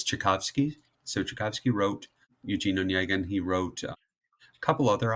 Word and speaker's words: Onegin: Eugene Onegin. It's not how I would have pronounced it at all, so thanks for the assist.